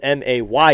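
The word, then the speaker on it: Mey: May is not spelled M-A-Y. It's spelled M-E-Y.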